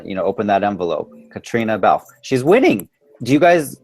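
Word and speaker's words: Caitriona Balfe: when they announce it they're not going to be able to pronounce her name but it's Katrina Bal whoever's going to you know open that envelope Katrina Bal she's winning do you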